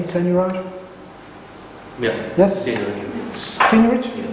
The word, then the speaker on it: seigniorage: A debasement, or another word for debasement, is seigniorage. Do I pronounce this correctly, seigniorage?